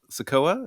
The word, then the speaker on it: Sikoa: You could do Solo Sikoa.